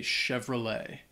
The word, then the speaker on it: Chevrolet: behind uh this word the spelling is not necessarily like it sounds especially the T at the end uh it's not pronounced so we just say Chevrolet um or Chevy yeah